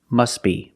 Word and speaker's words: must be: But if you link the words, you pronounce it must be, must be.